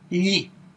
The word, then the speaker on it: gli: All of the other nouns, special consonant combinations, or vowels, they will require the article gli. The pronunciation of gli is a little bit tricky.